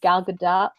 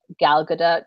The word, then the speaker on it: Gal Gadot: Gal Gadot. I believe it's Gal Gadot. It's not Gadot. They say in this profile of her, that's not really how you say it.